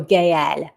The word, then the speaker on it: Gaëlle: I would pronounce it with an accent tréma, even if they didn't put one. Okay, so Gaëlle.